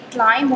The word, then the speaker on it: climb: इसके अलावा CLIMB को आप लोग क्लाइंब पढ़ रहे होते हैं, जबकि क्लाइंब नहीं होता, इसमें भी आपका B साइलेंट है और ये क्लाइंब होता है।